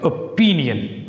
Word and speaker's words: opinion: Opinion. Opinion. Put stress on P, not O.